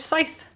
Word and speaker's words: Scythe: It's 9:54 and I have finished Scythe.